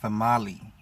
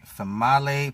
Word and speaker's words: Female: Her name is Famali, but it's spelled female. She's a voodoo priestess, implied because it's New Orleans, and like her name is pronounced Famale, but spelled female.